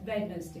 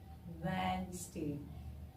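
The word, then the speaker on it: Wednesday: वेनसडे अब य वेडे कुछ लोग इसको इसकी प्रस क्या करते हैं वेडनेसडे वेडनेसडे नहीं होता है क्योंकि वेडनेसडे का डी जो होता है वो साइलेंट होता है ठीक है क्या होता है डी विल बी साइलेंट मेरे साथ प्रैक्टिस करिए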